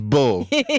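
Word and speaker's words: Beaux: But you got Bo Dove.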